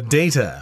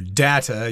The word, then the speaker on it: data: go with all the data or data you can pronounce it either way and of course when